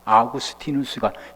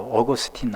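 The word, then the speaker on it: Augustine: 아구스티누스가 영어식 발음으로 어거스틴 아닙니까?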